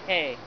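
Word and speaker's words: ה: hit in honor or e value 5 is pronounced hey it means window literally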